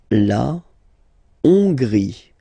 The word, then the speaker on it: Hongrie: La Hongrie. So remember, H doesn't exist, so you don't pronounce it. So it starts with O-N, on, and then gris. Final E, not pronounced. La Hongrie.